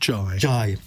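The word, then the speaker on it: Ghey: Jay's uh murder and we should say it's pronounced ji J um Brianna J's murder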